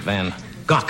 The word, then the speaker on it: van Gogh: a present for Vincent van gock I guess is the correct pronunciation if you want to use the Dutch pronounce it van gock